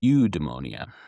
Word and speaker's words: eudaimonia: The second word is eudaimonia. It's a little bit harder to kind of translate. It's spelled e u d a i o n i a. Eudaimonia. Now, you might hear it say eudaimonia.